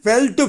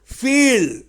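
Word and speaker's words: feel: இதை நாம எப்படி உச்சரிக்கணும் ஃப்ங்கிற அந்த ஓசையை இங்க பயன்படுத்தணும் ஃபீல் அதை பீல்னு சொல்லக்கூடாது ஃபீல் பீல் கீழ் உதடை லேசா மடிச்சு மேல் உதரோட மோதாம பீல் பெல்ட் பெல்ட் தமிழ் அர்த்தம்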